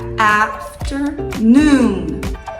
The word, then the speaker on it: afternoon: vai pronunciar afternoon afternoon lembra que a pronúncia forte de inglês é sempre mais no começo da palavra então afterno não aftern tá sabe esse ter não tem força então a sílaba tônica vem no a e depois vai lá